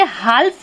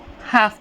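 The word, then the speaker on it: half: के जस्ट बाद आ तो हम इसे हाल्फ नहीं पढ़ेंगे हाफ पढ़ेंगे हाफ का मीनिंग क्या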